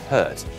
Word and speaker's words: HVRT: It's pronounced Hurt.